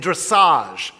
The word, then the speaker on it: dressage: we learn the minutia of high diving and dressage that's the way you pronounce it i asked someone and gymnastics and